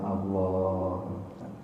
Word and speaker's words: Allah: Nah, semua kata Allah, jangan lupa ini ada alif berdiri, dibaca panjang. Jadi semua kata Allah itu dibacanya panjang. Allah. Karena terkadang saya suka mendengar imam di sini ada yang Allah membacanya pendek. Ya Allah itu ada alif berdiri di sini dibaca panjang.